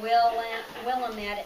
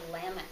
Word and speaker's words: Willamette: And they said, it's not Willamette, it's Willamette. It rhymes with damn it.